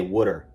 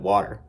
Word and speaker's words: water: For example, I used to always say wooder instead of water because I thought it was the right way to say it since that was the